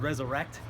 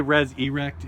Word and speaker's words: Rezza Rekt: this is my friend resurrect we just had a battle on Ground Zero he didn't say res erect in case people were confused yeah don't don't spell